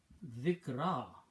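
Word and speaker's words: ذِكْرَى: down in this format, dhikra, roots are same, except that this time we have added a ya at the end, like alif maqsura, and it is pronounced as dhikra.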